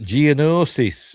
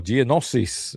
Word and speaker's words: Geonosis: Meanwhile, Slave One arrives at Geonosis, or Geonosis, as George Lucas pronounces it.